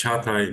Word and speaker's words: Çağatay: So, Jagate, am I pronouncing correct? Yes? Yeah, it's very correct. It's Çağatay, but it's hard to pronounce in Turkish as well.